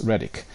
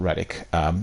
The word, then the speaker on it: Reddick: is uh link to Lance Reddick Lance Riddick not Relic they've pronounced this uh